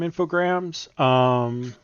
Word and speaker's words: Infogrames: I call them infograms. It's got that E, dude.